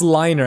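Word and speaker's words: Linar: Is that Lennar? I think that's Liner. I think I've been pronouncing his name wrong.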